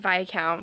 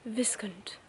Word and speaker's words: Viscount: and I was right it's apparently pronounced by count which wasn't on the list of any of my guesses so that's interesting a second guess was something like viscant or something like that so far so this